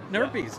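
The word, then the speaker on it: Nerpy's: everybody's watching this that's awesome great owner peas nerd peas I said it right yeah you said it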